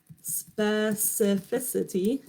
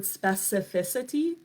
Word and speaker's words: specificity: in there chiropractor the next word is specificity and this is a fun word to say